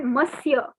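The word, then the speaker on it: monsieur: gauri now you know in french mr like in english you say mister in french it is called masia masia so we will call paul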